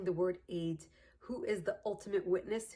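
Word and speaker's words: עד: How do we say eid in Hebrew how do we say witness in Hebrew is eid.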